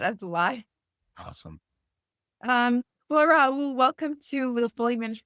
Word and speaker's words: Rahul: I respond to both, but the original pronunciation is with the H, Rahul.